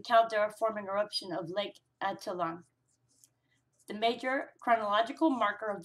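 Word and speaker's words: Atitlán: Almalanga stratovolcano is the oldest edifice and underwent collapse prior to the caldera forming eruption of Lake Atitlan, the major chronological marker of volcanism in the region.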